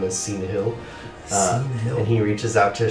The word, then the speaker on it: Syneyhil: He thanks you for your time, and he says, my name is Cena Hill. And he reaches out to shake your hand, and it's pronounced or spelled, if you want to know that, SYNEYHIL.